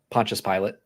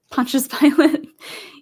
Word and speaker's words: Pontius Pilate: Pontius Pilate. Pontius Pilate.